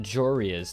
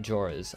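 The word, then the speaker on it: Joreuz: And I just learned it's pronounced Jorias, not Joras.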